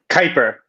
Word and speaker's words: Kuiper: oh god i didn't ask you how to pronounce this matt help me out kaiper thank you beyond kuiper the galactic star alliance